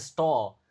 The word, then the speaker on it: stall: Oke, if we finish early, we will eat noodles at the stall. Ingat. Oke, s harus diucapkan dengan jelas noodles. Lalu stall juga. Kalau a ketemu l, cara bacanya gimana? O, kayak o kan.